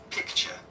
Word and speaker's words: picture: Picture. Picture. Picture. Because the R is not pronounced too much. It's the UK way of saying it.